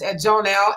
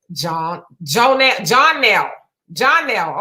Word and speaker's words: Jonelle: She says it's Jonelle, and Jonelle is pronounced the same as in John Nell.